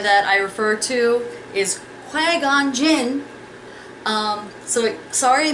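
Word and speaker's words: Qui-Gon Jinn: of the Jedi that I refer to is quagon Jin um so sorry I mispronounced that especially to those who love Star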